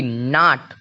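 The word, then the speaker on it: knot: के एन ओ टी नोट नोट मतलब होता है गांठ देखिए एन के ठीक पहले के है तो के का कोई साउंड नहीं निकाला नोट मतलब होता है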